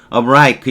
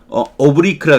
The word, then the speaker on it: oblique: oblique 군사 용어에서는 oblique 이렇게 발음하는 경우도 있다는 거예요. 이게 기울어진 비스듬한 이게 한정적으로 완곡한 비스듬하다는 건 애두르는 거죠. 문법에서는 이걸 오브리크라 그래요.